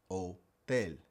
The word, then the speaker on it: hotel: honesto Even English words where we pronounce the H, it would be silent in Spanish. Like the word for hotel hotel or the word for